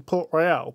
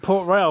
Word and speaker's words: Port Royal: Oh, it's Port Royal. I've been pronouncing it Port Royale for freaking years.